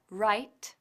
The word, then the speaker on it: write: aprovechamos para recordarte que igual que la W de wr es muda y se pronuncia right también lo es la W de wr que se pronuncia wrote veamos lo eos the